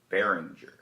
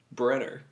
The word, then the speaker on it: Brenner: I'm here with Behringer. That's not my last name. How do you say it? Brenner.